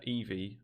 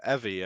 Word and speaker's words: Evi: had, where Japanese player Eevee, am I saying that right? Is it Eevee or Evie? Yeah, Evie, I think you would probably pronounce it better, yeah.